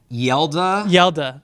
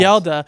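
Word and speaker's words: Hjalte: lineman, who I'm not going to try to pronounce his name, but you can say it for me. Yelda. Thank you. Froholt. Froholt. Yelda.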